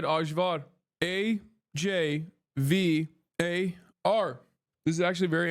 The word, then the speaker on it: Ajvar: And for the chatters correcting me on the pronunciation, I don't give a fuck. That's how you say it in Turkish. Ajvar. Ayvar, for fuck's sake.